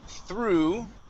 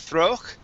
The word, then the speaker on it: through: go to the word through okay through the garden instead of throw it through through the garden through